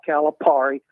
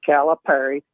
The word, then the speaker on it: Calipari: want to call in it's not Calipari it is calip Perry so pronounce the name correct Perry calip Perry who